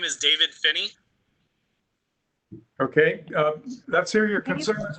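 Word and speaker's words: Phinney: my name is my name is david finney okay let's hear your concerns and we'll ask the application yeah last name is spelled p h i n n e y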